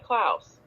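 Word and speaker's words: Klaus Kinski: his name what' you say his name was clouse kinsky clouse yeah klouse so okay um he was Pol I have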